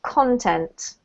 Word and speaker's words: content: experiences this one here there's two ways to pronounce this so in this context we're talking about the noun right and therefore we have to emphasize the first syllable which show users content contents right if you're